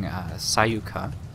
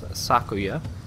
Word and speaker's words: Sakuya: I was saying Sayuka, and kind of switching up the K and Y. It's Sakuya, and I will hopefully be saying it correctly for the rest of the LP.